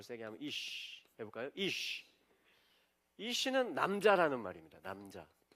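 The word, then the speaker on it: אִישׁ: 신부를 또 다른 단어로 자요 단어가 뭐냐면이라는 단어예요 발음을 세게 하면 이쉬 해볼까요 이쉬이는 남자라는 말입니다 남자 요게 신랑을 이야기하는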